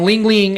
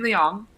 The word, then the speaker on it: Liang: get your thoughts on lingling uh fighting uh I think that's how you pronounce his last name legion ling a couple couple things so it's Legion Liang thank you that's it's